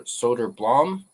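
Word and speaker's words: Söderblom: So here he is, Elmer Soderblom, or Soderblom is how you pronounce it.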